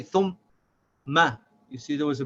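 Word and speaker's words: ثُمَّ: So we say thum and ma, but without stopping the sound of the meme, so we say thumma, thumma. We should not say thumma.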